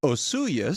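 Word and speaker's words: Osoyoos: And the answer is is Osu BC. Is that how you say it? So, it's pronounced Osuyus.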